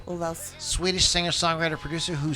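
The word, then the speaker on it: Ulvaeus: Hey, don't you be How do you say talking his shit name? about Bjorn. I would okay? say Olvaus. Ovals. Olvaus.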